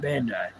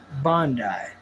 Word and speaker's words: Bandai: Yeah, Bandai. It's pronounced Bondi.